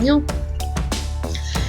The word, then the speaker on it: GNU: gnu no es unix se pronuncia en inglés como una sílaba sin vocal y en español se